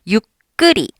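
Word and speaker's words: ゆっくり: 그래서 육끄리 약간 이런 식으로 발음이 돼요. 육크리라고 내가 크라고 열심히 하려고 해도 끄 소리가 나게 됩니다.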